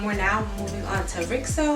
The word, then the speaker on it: RIXO: now moving on to rickso i believe that's how you pronounce it ri xo for sure it's like so uh let's start with